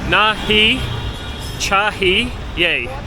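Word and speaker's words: नहीं चाहिए: as I was saying the way you pronounce that is nahi chahi yay very easy to learn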